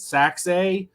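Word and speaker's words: Sachse: back out of now he told me to pronounce this city uh like like saxophone he said sax Texas uh 5 foot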